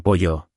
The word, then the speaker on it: pollo: Y pollo tiene la doble L como pollo.